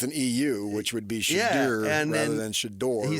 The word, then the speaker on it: Shedeur: Remember, he corrected me on how to say his name right out of the gate, which I actually appreciate. What? No, I don't. Because I called him Shador, and he's like, no, it's pronounced Shador.